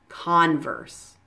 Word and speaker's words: Converse: fairly easy to pronounce just remember to stress the first syllable in each of these words Reebok Puma converse okay I hope this